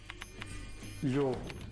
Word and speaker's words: lhobo: Lobo, ou lupo, deu lhobo. Não é? Lino deu lino. Portanto, todas as palavras que existiam em latim, em mirandês, passaram a pronunciar-se com lhe inicial, enquanto que em português se mantiveram com L.